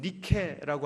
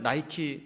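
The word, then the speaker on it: Nike: 있는 것이 아니라, 여러분 니케라고 아십니까? 승리의 신. 여러분 신발 나이키 다 하나씩 갖고 계시죠? 그 나이키가 바로 니케라고 하는 그 똑같은 스펠링인데요, 그 신부터 시작해서 저 아크로폴리스에 가보시면 막 신전이 여러 개가 있습니다.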